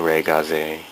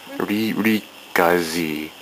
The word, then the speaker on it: Re-GZ: This is the Ray, well, it looks like Re-GZ, but it's the Re-Gaze. Re-Gaze. Yeah, that's what it is. That's how they pronounce it in Japan.